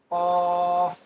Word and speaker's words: ق: Qaf. Qaf. Qaf will be pronounced boldly.